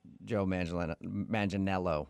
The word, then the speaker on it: Manganiello: Because we talked to him, and he told us that a lot of people say he looks like Joe Manganiello, right?